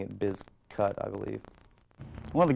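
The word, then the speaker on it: Bizkut: but they changed it because they wanted people pronouncing it biz cut i believe one of the guys that uh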